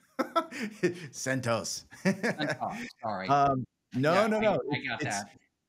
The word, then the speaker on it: CentOS: From CentOS. Oh my gosh, you made me say it wrong. CentOS.